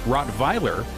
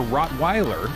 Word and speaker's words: Rottweiler: German breed it's name can be pronounced as Rottweiler the German way for Rottweiler in the United States